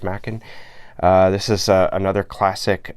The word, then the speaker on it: Machen: I think I've heard it pronounced as Machen or something like that before, but I'm pretty sure it's Machen.